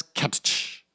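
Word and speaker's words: Cattch: for 6.99 with catch which is the word catch but with two t's i'm gonna pronounce it as catch this is great amazing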